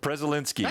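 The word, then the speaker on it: Przelenski: e-l-e -n-s-k-i isnevsky we I actually do pronounce the P but I don't think I'm supposed to that's the fact okay uh I preslinsky preszalinski okay all right prezzolinski yeah dark elf Twilight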